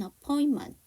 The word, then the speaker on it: appointment: 여기 보시면 appointment에서 NTM이잖아요. T 사운드가 묵음은 아니에요. 하지만 자음이 3개가 겹치기 때문에 두 번째를 안 한 거고요.